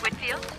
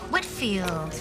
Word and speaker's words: Whitfield: next week and just wanted to get the pronunciation of her last name correct it's Whitfield Whitfield well that's what I thought and how do